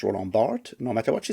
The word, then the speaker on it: Roland Barthes: And then a whole lot of arguments about a character that is pronounced Roland Barthes, no matter what she says, and, blaming the internet, because of course we blame the internet.